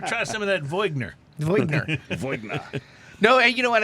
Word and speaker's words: Viognier: It's a varietal called Viognier.